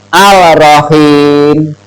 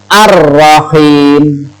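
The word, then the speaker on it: الرحيم: Jadi membacanya bukan al-rohim, Al-Rahim. Tapi yang betul adalah ar. Ro-nya double, seakan-akan double. Ar-Rahim.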